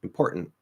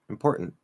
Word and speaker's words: important: Important, important. Okay. So 3 ways to say the exact same word.